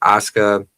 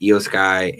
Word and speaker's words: Asuka: a point in the match where you had Asuka, I always mispronounced your name, Eiosky and um Kyrie, not Kyrie, sitting in the center and they pulled like the Spider-Man meme.